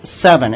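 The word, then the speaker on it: Sevin: to talk about is seven and it's spelled sa VI in and a lot of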